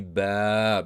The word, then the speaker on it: با: It will be ba because you are attaching the alif or the a extension to the ba letter. And you don't have to put the fatha here. So the way to pronounce this combination is ba.